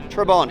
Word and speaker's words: Trabant: This is, how do we pronounce it? Trabant? Trabant, yeah.